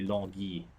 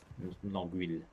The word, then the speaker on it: Longueuil: Yes, I do pronounce the French names. Actually, it's if you want to be more correct, it's actually Longueuil, Longueuil, because Huile is H.